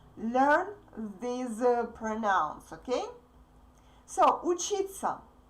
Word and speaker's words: учиться: To study, the infinitive in Russian is учиться. Please pay attention that these 4 letters are pronounced like sa. Okay? Repeat after me.